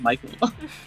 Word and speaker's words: Mikhail: It's like I don't even like call the angel Mikhail, and maybe I'm wrong for that. I probably am, but like I even if I was talking about the angel, I'd pronounce it Michael.